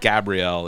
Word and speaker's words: Gabrielle: It's still pronounced Gabriel.